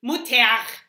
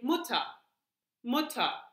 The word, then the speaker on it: Mutter: Wir sagen nicht Mutter. Yeah? Usually we don't say it like that. If you really want to be very strict with your mother, then you would say Mutter. But usually we just say Mutter.